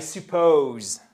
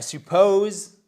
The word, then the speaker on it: suppose: I suppose. Vous avez tout à fait raison. Vous avez repéré l'apostrophe. Boou, vous voyez que c'est sur la seconde syllabe. I suppose that.